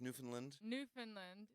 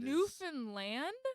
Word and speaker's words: Newfoundland: people from there because we know how to pronounce ER but with everyone else it's everyone says Newfoundland it's land so the land Newfoundland yeah I don't know that yeah known does